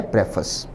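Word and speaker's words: preface: उच्चारण पर ध्यान दें। उच्चारण है प्रेफस।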